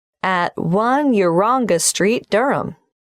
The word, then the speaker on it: Durham: how do you spell Durham DUI H a.m. of course I should know that but it's just one of those names that sounds quite different from the way you spell it it is confusing I've